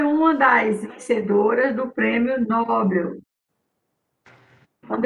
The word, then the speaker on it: Nobel: Nobel. Sílaba forte é Bel.